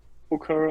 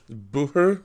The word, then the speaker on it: Bucher: yeah the most people they say Booker or Butcher or something like that. So it's Bucher is the right.